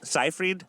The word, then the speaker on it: Seyfried: Jennifer Lawrence revealed that she has decided against playing Elizabeth Holmes in an upcoming movie because Amanda Seyfried, am I pronouncing that correctly? Seyfried?